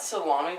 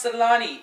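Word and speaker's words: Selänne: i thought salami was a type of meat oh my god no you great big dumbo it's pronounced salani a type of hockey player not meat oh yeah okay you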